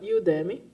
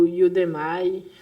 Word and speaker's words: Udemy: E agora falando de uma plataforma paga, eu consumo bastante curso da Udemy, ou Udemy, chame como quiser, mas é assim que se escreve, e tá aqui o site.